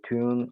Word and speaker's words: tuent: Ils le tuent et libèrent la grand-mère saine et savie du ventre du loup. Excellent, très bien. Attention, ENT. Et il le tue. On ne prononce jamais ENT à la fin.